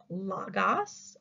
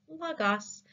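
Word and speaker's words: logos: coming at you and it is Lagos it is spelled I'm going to tell you how to spell it l-o-g-o-s Lagos it's the Greek word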